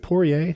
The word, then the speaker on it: Poirier: you've been following the is it poirier am i pronouncing that right yep versus foreign drama so